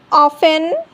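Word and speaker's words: often: ऑफन, listen, castle, wrestle, सॉफन, Christmas. ई silent, ई कब silent होता है?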